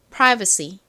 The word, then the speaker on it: privacy: 발음해 볼까요? Privacy privacy 자, 이렇게 오늘 준비한 단어들을 모두 공부해 봤습니다.